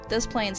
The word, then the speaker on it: Des Plaines: too bad number 9 des plaines if you can get past the fact that the town name is intentionally mispronounced and that it was the home of serial killer john wayne gacy those plans isn't so bad grizzly